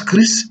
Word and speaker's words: Christ: ne dit pas chrétien le mot Christ se prononce chist pas alors pourquoi ne